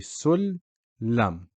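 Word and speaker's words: سُلَّم: So it would be Sul-Lam. The Shaddi merges these two together, makes it one lamb with a Shaddi and a Fatha. Sul-Lam. You can see it down here.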